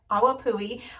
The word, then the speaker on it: Awapuhi: Several of you told me how to pronounce that, and I looked it up. Awapuhi Wild Ginger, and this is a finishing spray.